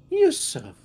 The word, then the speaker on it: Yusuf: good my name my name my name is Yusuf that is my name hey spell that y-u-s-u-f Yusuf well uh you says it's it's a